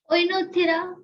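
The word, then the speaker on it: Oenothera: Okay, pronounce it. इट is called ओइनोक्थिरा, बोल, ओइनोक्थिरा Oinothera.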